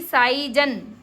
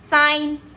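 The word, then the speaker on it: sign: ना चलिए बताती हूं अगर जी के बाद में एन आता है जी के जस्ट बाद में आपको एन एन दिखे जी एन बस इतना ध्यान रखो जी एन जी के जस्ट बाद में अगर आपको एन दिखे तो जी साइलेंट हो जाता है एन का इतना पावर है कि वो जी को साइलेंट कर देता है देखिए एलाइन साइन नारल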